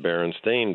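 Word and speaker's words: Berenstain: Google it now um everything is spelled s a i n and it's pronounced Baron stain Bears glitch that's a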